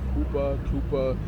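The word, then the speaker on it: chuppah: It's spelled like Chuppa, but I think it's pronounced like Kupa.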